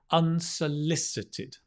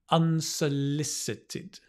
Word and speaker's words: unsolicited: the word with me it's a difficult word unsolicited and i'm going to put the stress on the unsolicited unsolicited advice unsolicited advice